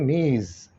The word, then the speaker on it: Ms: और इसको जो पढ़ा जाता है वो ये पढ़ा जाता है इंग्लिश में, इसको इस तरह प्रोनाउंस करते हैं, ठीक है। MS लिखते हैं और प्रोनाउंस करते हैं मीज़, ठीक, यानी कि ये दोनों को रिप्रेजेंट करता है।